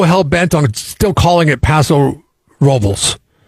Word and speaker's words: Paso Robles: people that move here from LA and San Francisco, no offense to y'all, but you say it wrong. It's Paso Robles. That's how the locals say it.